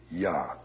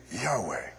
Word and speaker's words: Yahweh: mysterious but the first the first syllable at least that much we know and that would be yah presumably the name would be Yahweh but all we have